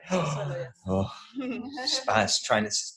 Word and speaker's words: Subsuelo: Subsuelo, yes. Oh, Spanish, trying to pronounce things in Spanish gives me so much anxiety.